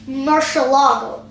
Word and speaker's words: Murciélago: Next up, in about 2005, they created the Lamborghini Murcielago. Or Murcielago. Forget it. I know the correct pronunciation. It's Murcielago.